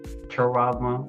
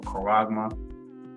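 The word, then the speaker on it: χάραγμα: You know, some pronounce it as charagma or karagma, right?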